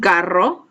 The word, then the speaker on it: carro: Un carro, if you can roll your R's, you should do your best to do so.